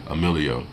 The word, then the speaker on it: Emilio: built how you know it's pronounced how it's spelled am i ll io Emilio that's how you pronounce it but it wasn't you